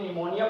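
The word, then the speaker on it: pneumonia: यहां पे निमोनिया पढ़ा जाएगा। पी साइलेंट है। निमोनिया हो गया। इसके अलावा यहां पर भी एन से पहले पी है तो पी साइलेंट है।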